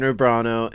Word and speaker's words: Urbano: good job yeah yeah did i mispronounce no he nailed it i think you did a good job i think i said orbano i don't i don't